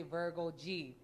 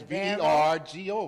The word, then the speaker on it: Vero G: we always mention her, you always say Virgo G. I don't know why. It's Vergo, right? Yeah, it's I guess Veronica. Because of the way it's spelled.